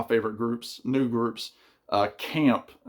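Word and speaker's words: Caamp: groups New groups uh Camp it's pronounced camp with two A's this is their album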